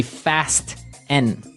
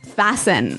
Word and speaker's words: fasten: It's spelt Fasten. Right, so it would be fast N. No, No, right? fasten. Fasten. The T Fasten. kind of becomes silent. So it's fasten.